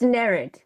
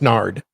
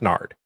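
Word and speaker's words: Nared: morning about how his name is spelled and pronounced. So, it's nerd. No, it's nard. It's n a r e d, but it's pronounced nerd. Yeah. Or I'm sorry. No, it's pronounced nard.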